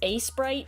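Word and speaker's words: Aseprite: This is Asprite, which I keep reading as a sprite, but no, it's Asprite.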